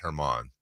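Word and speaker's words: Germán: was a baseball player it's spelled German but pronounced Herman I don't remember play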